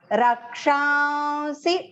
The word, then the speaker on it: रक्षांसि: Rakshansi, take the ksha long and then the nasal va and then small c, short pronunciation c.